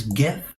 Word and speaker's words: GIF: then we'll click record as gif or jif however you like to pronounce it semantics potato potato tomato